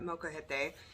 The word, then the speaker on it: molcajete: if you have a molcajete. Did I say that right? Yes. Oh, I said it right. Molcajete.